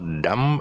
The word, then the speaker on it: dumb: dumber the um er the b is silent okay so there's no